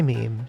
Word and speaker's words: meme: forgive me if I abbreviate my meme to meme. If it is any consolation, it would alternatively be thought of as being related to memory or to the French word meme. It should be pronounced to rhyme with cream.